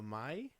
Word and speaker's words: Mai: were these girls okay what's their names uh May Maya no my like m a i n